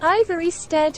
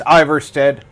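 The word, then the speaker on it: Ivarstead: Invad 3 RDIZ said, "For some reason Ivory Stead is one of my fave villages." Invad 3 RDIZ said, "I said the name wrong but..."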